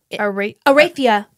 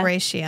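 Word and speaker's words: Aretia: Arathia. Arathia? Aratia. Aratia. Aratia. Aratia. Aratia. Is how she pronounces it on the book.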